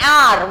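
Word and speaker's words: hour: When we say height, we pronounce the H, but here when we say R, we do not pronounce the H. H is silent.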